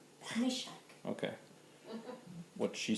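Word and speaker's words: Meshech: Meshach. Meshach.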